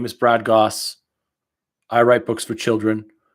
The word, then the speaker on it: Gosse: my name is brad goss i write books for children my last name rhymes with sauce i'm here you're in